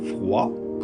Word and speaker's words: froid: For example, in the words froid, cold, chaud, hot, the final D isn't pronounced when in French.